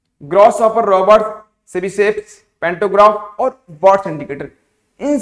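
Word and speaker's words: Tchebicheff: Second CB safe, spelling लिखो तो समझ में आएगा, TCHE, CB safes mechanism dear. Fourth, ये टी मत पढ़ना, सीबी सेफ्स मैकेनिज्म।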